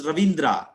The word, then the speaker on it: Rabindranath: Look at this one, Rabindra, but we pronounce Ravindra. Ravindra. So this is a North Indian style, Rabindra. They don't have V, but in our Telugu, we pronounce Rabindranath Tagore.